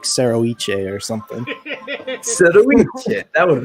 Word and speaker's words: Serroice: Serroice.